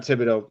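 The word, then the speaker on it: Thibodeaux: You think you have to obviously take your pick between Thibodeau and or not Thibodeau.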